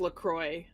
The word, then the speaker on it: LaCroix: Actually, if you go to their website, Marin will say, it says that they want it to be pronounced LaCroix because See?